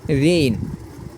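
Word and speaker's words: reign: এরপরে আর ই আই জি এন এখানে হচ্ছে রেইন আর ই আই জি এন এখানে রেইন এরপরে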